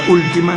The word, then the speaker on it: última: La palabra última es una palabra esdrújula, ¿ves? Tiene el acento en la U.